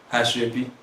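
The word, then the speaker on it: aso ebi: Asebi, am I pronouncing it correctly? Asebi.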